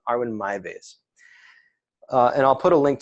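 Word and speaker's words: Armin Meiwes: German guy named um I think you pronounce his name Arvin Arwen my base r1 r1 my base and I'll put a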